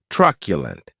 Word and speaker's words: truculent: the next adjective is truculent and this word has three syllables with the stress on that first syllable keep in mind that